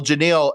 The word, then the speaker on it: Genile: Just think Captain and Tennille and replace the T with the G. There it is. Genile, everybody. Well, Genile, absolutely pleasure to have you here.